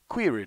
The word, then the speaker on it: query: Query does not rhyme with very, nor does fury sound like berry.